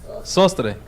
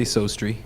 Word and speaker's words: Sostre: Sostre. Sostre. Yeah, you could say Sostri.